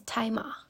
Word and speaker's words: Tzi Ma: I had mispronounced the name of the actor, and the pronunciation is Tzi Ma.